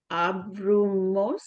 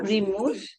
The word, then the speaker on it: abrimos: Abrimos. There are three Okay. parts to this verb. Abrimos. Okay, so nós abrimos o carro. Abrimos. The stress is on the Abrimos. before last syllable.